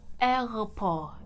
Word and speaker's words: aéroport: the airport and airport you want to pronounce it as errolpo hoppo like kind of like hey the a and the e sound it's kind of like you pronounce them the same error error right so